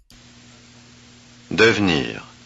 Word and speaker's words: devenir: Devenir. Oh, no. Devenir. Oh. Don't pronounce it because there aren't three consonants.